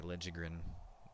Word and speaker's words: Liljegren: Cody Ceci, and then Mario Ferraro and Timothy Liljegren. I know he said he changed the pronunciation, so if I say Liljegren, it's how it's supposed to be pronounced.